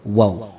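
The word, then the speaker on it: و: mim, ba, dan huruf waw. Huruf mim, ba ini keluar dari dua bibir yang dirapatkan. Ma, ba. Ya, cara membacanya seperti itu, dirapatkan dua bibirnya. Sedangkan waw dengan memonyongkan bibir.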